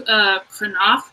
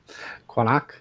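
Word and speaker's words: Qaanaaq: So it's pronounced Kranach. So it's like the Q is like a K, but a little further back in the throat. At least that's how I think it's pronounced, because it's Greenlandic.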